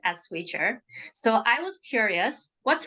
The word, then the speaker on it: Swychr: the company the name of the company is pronounced swier but spelled a bit differently so um first